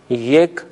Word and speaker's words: یک: فارسی میں ایک کے لیے جو لفظ استعمال ہوتا ہے اسے یک تلفظ کرتے ہیں، اور کلاغ یعنی کوا.